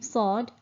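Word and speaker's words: صاد: kasra the letter sword letter name sod pronounced as the english word sword and the phonetic sound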